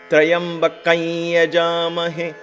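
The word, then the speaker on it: त्र्यम्बकं यजामहे: Trayambakam and Yajamahe, kam and ya becomes kain. Kain.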